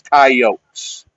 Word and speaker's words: coyotes: South Dakota Coyotes traving it's just yotes well they're they are coyotes no but we pronounce it coyotes coyotes for some reason that's that is odd yeah I've always found that interesting too but it is kyotes okay then so the